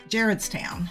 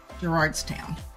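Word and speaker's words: Charles Town: so on that one you emphasize the first syllable not the second so it's Jared's toown not Gerard toown Caryville uh that's a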